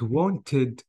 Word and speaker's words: wanted: The rule is saying, if the verb ends with T or D, and the ending is ED, you have to pronounce the ED. So by this way, I have to add an extra syllable, which is E.